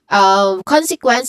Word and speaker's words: consequence: First is con. There's 3 distinct sounds, starting with con, which has a short o sound. Then se, conse. Se, which has which has a schwa sound, weak, unstressed e sound here. And lastly, we have quens. Again, quens. So the letter Q, it